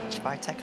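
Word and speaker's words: Świątek: Swiatek, I believe it's how you pronounce her name in the world of tennis.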